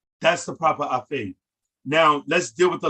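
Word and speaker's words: afay: a word in the Nuwaubic that we call afe, A-F-A-Y, afe, afe.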